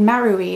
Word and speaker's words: Marui: got it in Japan in a store called marui it's spelled m a r UI but if you